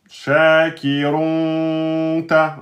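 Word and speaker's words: شاكرٌ: Donc vous allez pas dire run, vous allez pas prononcer le noun, le noun de tenuin le noun de vous allez pas le prononcer, vous allez juste dire le ou shakiron mais vous verrez ça après.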